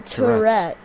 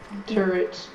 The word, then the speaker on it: turret: No, Tourette. Turret. No, it's a turret, not a Tourette.